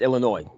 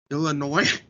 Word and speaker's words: Illinois: It's Illinois. The S is silent. Illinois.